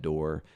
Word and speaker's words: Doerr: can go to my website chad door comm and that's do ii or are we were talking about that yeah we're the post it's it's not spelled like it sounds but that chad door